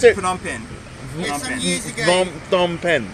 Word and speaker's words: Phnom Penh: Wait, how do you pronounce it? Phnom Penh.